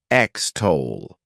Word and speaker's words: extol: is extol to extol this word has two syllables and the stress is on that second syllable XTO what it means is